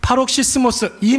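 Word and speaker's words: παροξυσμός: 오늘 본문에서 사용된이 다투다라는 말의 표현 여러분 헬라오 표현이 어떻게 발음을 안하냐면 파록시모스 이렇게 발음을 합니다. 파록시모스 파로시스모스 파로시스모스 발음이 잘 안 되는데 파록시스모스이 말은 여러분 신약 성경에서 딱 두 번 사용되었어요.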